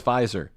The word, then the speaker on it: Pfizer: the pharmaceutical company pfizer you know them as pfizer silent p the meat i didn't